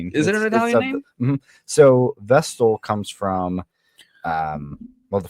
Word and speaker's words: Vestal: Vestal.